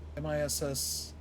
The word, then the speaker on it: Massillon: Like pronounced it Massillon. Maslin. Almost like it's Masslin, Maslin. But it's spelled Massillon. No, Massillon. Massillon.